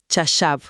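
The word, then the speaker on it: חָשַׁב: La palabra es chashav. Chashav. Se pronuncia así, chashav, con el acento al final.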